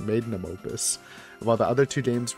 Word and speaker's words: magnum opus: like the masterpiece, the magnus opus. Is that how you say it? Magnum opus.